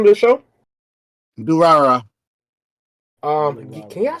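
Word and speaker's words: Durarara!!: Durara. Can y'all spell that for me? It's like do ra Durara.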